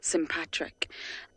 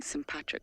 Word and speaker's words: sympatric: cohabit the same space and we call this sympatric and many of you asked me about that word so I'll spell it for you sym patr I see sympatric so they live sympatric Li which means they